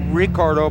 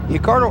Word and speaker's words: Ricardo: He is Ricardo Arona, and it's actually spelled Ricardo, but the Brazilians pronounce that R with an H sound.